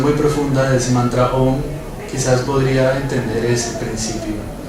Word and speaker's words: Om: Entonces, cuando A y U se combinan, se produce el sonido O. No es O, no es AU, es O. Om.